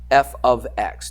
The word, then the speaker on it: f of x: do you remember that yeah f of x that's how you say it I'll put it in quotation marks that's how you say it it's not f x x it's not you know f is a variable and X is a variable um it's F ofx it's a function all right